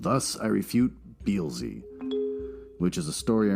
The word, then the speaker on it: Beelzy: Thus, I refute Beelzy. That's how it's pronounced.